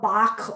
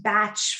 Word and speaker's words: Bach: many the um so-called bach although it's actually meant to be pronounced batch flower essences developed in